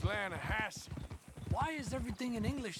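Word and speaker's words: Lannahechee: it runs right near here yeah but it's pronounced lanahassee why is everything in English said differently than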